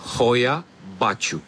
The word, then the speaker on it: Hoia Baciu: la crainte une forêt qui a pour nom royat pacho voilà pour la prononciation officiel ces bois ont un surnom très